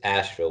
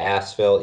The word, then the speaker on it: Asheville: you don't say gasps its Asheville with a silent H so I tell everybody when they come into North Carolina you're going to ask Phil yes yes absolutely what